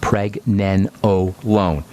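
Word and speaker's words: pregnenolone: want to know about pregnanolone by the way that's spelled p r g PR nen NE n o l o n e PR nen o loone we'll talk about that here in the coming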